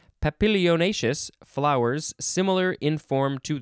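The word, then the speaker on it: papilionaceous: legume family having showy papillonashius that's not how you say it papillonacious flowers similar in form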